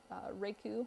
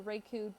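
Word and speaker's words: raku: I heard of is rake ooh I believe that's how it's pronounced the rake ooh done with pottery can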